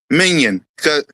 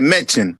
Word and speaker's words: Mannion: I said it right. Minion. Minion. I get his name wrong. The first time I said mention, so it's Minion.